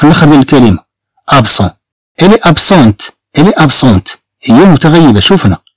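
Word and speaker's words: absente: الي ابسون اذا ما غتنطقش لنا الطي، ولكن ملي تنضيفو أه مع ال مع هي طبعا تنطق الطي.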